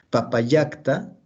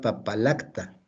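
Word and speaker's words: Papallacta: Entonces, Papayacta, así se pronuncia. Si fuera latín sería Papalacta, pues a doble L. Ok, bueno. Laguna de Papayacta.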